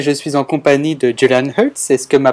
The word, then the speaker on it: Julian Hertz: De retour sur Glockenpops et je suis en compagnie de Julian Hertz. Est-ce que ma prononciation est correcte?